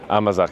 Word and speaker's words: amazake: Amazake.